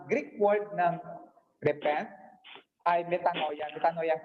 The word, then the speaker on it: metanoia: Ang pagsisisi ng kasalanan, ang Greek word ng repent ay metanoia. Metanoia ang pronunciation niya.